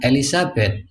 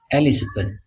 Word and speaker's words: Elizabeth: Menyebut raja Inggris bukan Elisabeth. Enggak ada. Yang ada Elizabeth.